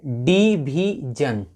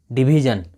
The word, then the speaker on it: division: डिवीजन। डिवीजन मतलब विभाजन। जी हाँ, अगर अंत में SION है तो उसका उच्चारण ज भी होता है ना, जन।